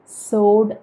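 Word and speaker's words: sword: ഇത് നമ്മൾ പറയുന്നത് സോഡ് എന്നാണ്.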